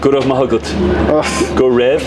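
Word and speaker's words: go raibh maith agat: Gorev Mahagut.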